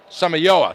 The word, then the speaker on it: Samayoa: How do you say that? Samoye? Samoyoe? Samayoa? Samayoa, thank you.